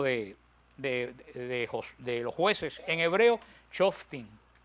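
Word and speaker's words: שופטים: En hebreo, Shoftim. Con F, Shoftim, con M al final.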